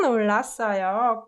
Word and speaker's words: 놀랐어요: And the way I pronounced it was 깜짝 놀랐어요. 깜짝 놀랐어요. 윽느 combined softens 윽 to 응 sound, right?